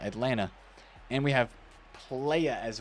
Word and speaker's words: Atlanta: Not Atalanta Atlanta.